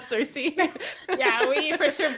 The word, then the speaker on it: Circe: Italian, because in Italian we would say Circe. What do you call it in English? I say Cersei.